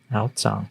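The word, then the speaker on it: Aozang: Outsong, so that's She how it's usually pronounced.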